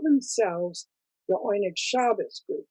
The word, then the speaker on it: Oyneg Shabes: they called themselves the oynikshabas group which is of course the yiddish pronunciation of what we call what we would say